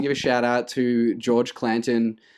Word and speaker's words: George Clanton: His name is George Clanton. Clanton, not George Clinton. Not George Clinton. Okay. Definitely George Clanton. George Clanton. Easily to mistake it.